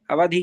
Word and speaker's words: अवधि: दिया है अवधि ज्ञान अवधि नहीं है बड़ा ई नहीं है उच्चारण भी वैसे करें अवधि ज्ञान ठीक है ना अवधि